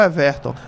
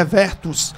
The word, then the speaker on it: Evertus: Evertus, o nome, o pessoal chama doutor Everton, mas é, né? Evertus seria a pronúncia correta.